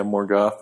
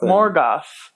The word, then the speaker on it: Morgoth: Like the ones we've watched about Tom Bombadil, about Morgoth is how you pronounce that? Yeah, Morgoth. Morgoth.